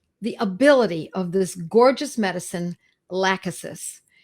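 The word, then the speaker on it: Lachesis: at the the ability of this gorgeous medicine laccis spelled l-a-c-h-e-s-i-s and it's in a 200 potency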